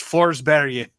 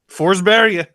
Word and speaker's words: Forsberg: Peter Forsberg is not a person during the duration of this tournament. It's Forsberg. Really? That is how you... Forsberg. That's how you say it.